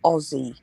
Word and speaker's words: Aussie: to say it is Aussie not look it's not with a zed no sorry it's spelled with an S but we pronounce it like it's got a z Aussie and it's Aussies